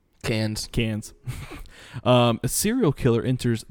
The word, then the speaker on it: Cannes: Film Festival the king candis candis i can never pronounce that one right the Cannes Film Festival no no Cannes Cannes a serial killer